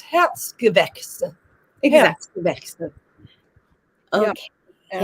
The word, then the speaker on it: Herzgewächse: so I don't have to show the German pronunciation that I'm having trouble with. Yeah, it's Herzgewächse.